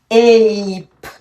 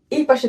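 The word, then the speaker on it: ape: এটির উচ্চারণ কি হবে এখন? এইপ। সে উচ্চারিত হবে না, এই এই এই পাশে চলে আসছে ধরতে পারো, এটি উচ্চারিত হবে না। সো এটি হবে এইপ।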